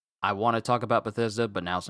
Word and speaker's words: Bethesda: I want to talk about Bethesda, but now's not the time.